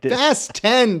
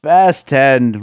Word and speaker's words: Fast X: a little movie called Fast x uh lat fast 10 Dave don't mispronounce it fast 10 whatever it's from director